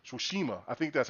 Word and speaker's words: Tsushima: Uh, Goso Tsushima. I say Toshima. Who cares? Let me be country. Was pretty because they say it in the game. They say that their place the proper way. Tsushima.